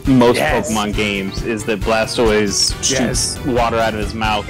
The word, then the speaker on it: Blastoise: you mean sunday supper blast toys he's looking like he's coming over and getting a plate he's ready to go no it's it's pronounced blastoise blessed yes blastoise glass